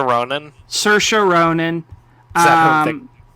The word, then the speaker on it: Saoirse: Saoirse Ronan. Saoirse Ronan.